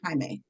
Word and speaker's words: Jamie: much confusion it's pronounced Hae he looked at her blankly my name you said Jamie it's pronounced Hae soft J like jalapeno it's a lot I